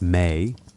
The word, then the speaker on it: me: It was a collection of discrete elements called the me pronounced may often translated as divine powers or divine decrees.